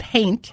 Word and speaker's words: haint: spell that paint blue h a i n like it ain't but haint huh aain red green